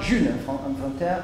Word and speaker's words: Ğ1: Entonces la Juna se pronuncia June en francés, Juna en español, pienso que...